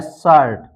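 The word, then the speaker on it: shirt: bird इसी तरह है शर्ट शर्ट में भी आप देख सकते हैं आई आर साथ में आया है इसलिए आ की मात्रा से यानी आ की भावना से पढ़ा गया है शर्ट इसी तरह है फर्म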